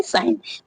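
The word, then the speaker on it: sign: और एन के पहले आई व जी भी हमेशा क्या है? साइलेंट रहता है। मतलब फिफ्थ फिफ्थ में क्या है? एन के पहले अगर जी आता है तो भी क्या है? साइलेंट रहता है। जैसे यहां पे साइन साइन में देख सकते हो एन से पहले जी आया है। साइन मींस क्या होता है? चिन्ह होता है लेकिन साइन पढ़ते हम साइन है लेकिन इस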